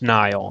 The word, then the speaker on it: Niall: His name is Neil. It's spelled Niall.